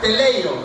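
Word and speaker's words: τέλειος: Y la palabra que Pablo escribe en ese versículo, en el idioma original se pronuncia teleio.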